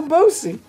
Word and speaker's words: Boosie: __ ] that's what that means it's lil bosey in that we'll see yeah one of your